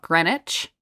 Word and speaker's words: Greenwich: words too like there's a City in Connecticut called Greenwich but it's obviously it's spelled Greenwich yeah like why why are